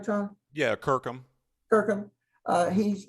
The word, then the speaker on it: Kirkham: So now, Tom Kirkham, am I pronouncing that right, Tom? Yeah, Kirkham.